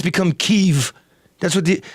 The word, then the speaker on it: Kyiv: Now, the Russians say Kiev. Okay. And we say Kyiv. Kyiv. Kyiv? Kyiv. Yeah, get it? Kyiv. Kyiv. Yeah. There's a Y and an I. Yeah. It's not Kyiv.